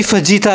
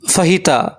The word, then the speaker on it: fajita: ये है जी फजीता rice. फहीता फजीता फहीता फहीता, यार क्या कंफ्यूजन है। वैसे इसकी सही प्रोनाउंसिएशन फहीता है।